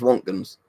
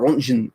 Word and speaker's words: Röntgen: can really understand is Rontgens, or Rontgen, or however you want to pronounce it. Rontgen, I sort of saying, because he sounds like a German name, and he was a German.